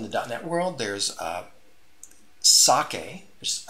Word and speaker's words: psake: down that world there's sake just I believe how it's pronounced is PS a ke was introduced in